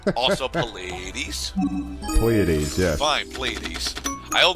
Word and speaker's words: Pleiades: Fine, The P is silent. Also Pleiades. Pleiades, yes.